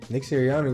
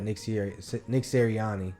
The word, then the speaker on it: Nick Sirianni: I mean, Nick Sirianni was tripping, wasn't Yeah, he was yelling at the fans.